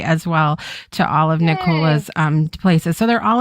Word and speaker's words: Nicola: Um, and if you have trouble remembering my name, you can think that it rhymes with Coca-Cola. Nola rhymes with Coca-Cola.